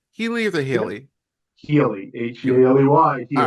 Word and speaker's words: Healey: Healy, Healy.